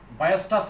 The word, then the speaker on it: Weierstrass: তো আমি যদি এই ধারাটি একটু সংক্ষেপে লিখি নিই, ওয়েস্টাস এম টেস্ট, এটা উচ্চারণ বায়োস্টাস এম টেস্ট হয়, WEIERSTRASS, ওয়েস্টাস এম টেস্ট। ঠিক আছে, তাহলে এটাকে উচ্চারণ এরকম হয় বায়োস্টাস এম পরীক্ষা বা এম পরীক্ষণ।